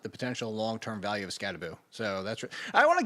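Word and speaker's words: Skattebo: potential long-term value of Scataboo. So, that's I want to get both of you guys unless he comes out and tells everybody we're saying it wrong. It's got a boo, not bow.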